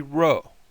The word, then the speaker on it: rho: looks like a P, but this is the rho. This is the rho sound, and it has a R sound to it. So rho, as in the word ring or revolve.